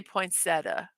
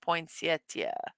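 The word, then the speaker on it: poinsettia: National POA day poin I say poeta but I think it's pronounced potia but anyway I don't know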